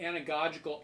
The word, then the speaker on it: anagogical: anagogical mode all right I'll spell it for you a-n-a-g-o-g-i-c-a-l anagogical in the anagogical mode